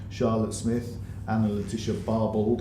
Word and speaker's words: Barbauld: Smith and the leadership Barbauld I pronounced it some people go for Barbeau but they have to